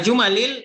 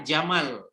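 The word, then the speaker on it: جمل: Minal jumalil atiyati. Jumal itu jamak. Jamak dari jumlah. Jangan dibaca juga jamal. Jamal bermakna naqah onta. Salah baca ya. Jumal itu jumal bacanya.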